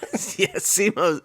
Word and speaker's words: Simu: And I hope that's how you probably don't have to do the lip thing like that. But I think that's how you pronounce it. They prefer the lip. Yeah. Simu. When you're with Simu, he's like, could you put the lips out?